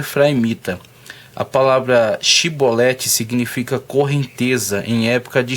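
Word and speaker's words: Shibboleth: o sabor da vão pedindo para que ele pronunciasse correnteza em tempo de cheia ou shiboleth mas devido a sua seu dialeto a pronúncia sempre saía cipoletti O que fazer com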